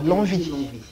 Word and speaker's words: Longvic: Première fois élu, alors, on prononce le C de Lonvic? Non, Lonvie. Le C, on ne le prononce pas, on l'avale.